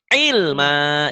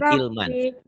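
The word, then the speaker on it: عِلْمًا: Rabbi zidni ilma. Dibaca satu kan ikro 5 ya. Jangan ilman. Rabbi zidni ilman. Rabbi zidni ilma. Jangan ilman. Kan mad iwad. 2 fata dibaca satu jika dihentikan. Bacanya satu. Ilma.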